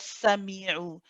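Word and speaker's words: سميع: So the fatha of the sa is not coming out as a complete fatha sound. So keep it slow, keep it steady.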